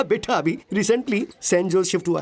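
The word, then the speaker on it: San Jose: O sorry sorry sorry sorry sorry सैन होज़ एस ए एन जे ओ एस ई इसकी spelling यही है ना लेकिन इसमें जे साइलेंट रहता है इसलिए इसे सैनोजे बोलते हैं।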